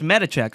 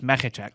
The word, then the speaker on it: Mechacek: I'm Medicek," and like, "Oh, it's Medicek, all right." And then we say that on the air, and they go, "Oh no, it's Mechacek."